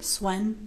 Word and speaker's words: Sven: And then this Sven? Swen. Swen. How do you say his name? Swen.